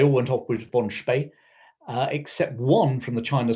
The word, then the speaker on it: Spee: Spee is pronounced Spee.